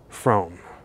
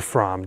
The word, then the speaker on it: Fromme: lot about lynette squeaky from or from depending on how you say it some people even say frommy no matter how you